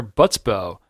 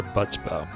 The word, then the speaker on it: Butsbo: by Butsbo, Patreon member Butsbo. It could also be Le Butsbo. Yeah, Butsbo. I'm gonna go with Utsbo. The B is silent.